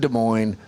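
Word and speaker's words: Des Moines: West De Mo and De Moine both times you remembered. It's rare for you that the S is silent.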